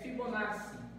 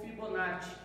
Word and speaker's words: Fibonacci: próximo assunto que é fibonaci ou Fibonacci as duas pronúncias aí estão certas então através do Fibonacci